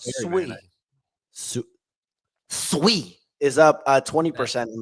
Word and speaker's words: Sui: Pronounced Sui.